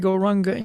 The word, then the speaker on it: Gauranga: And we will divide Gauranga into 4 syllables. Go, Ra, Ang, Ga.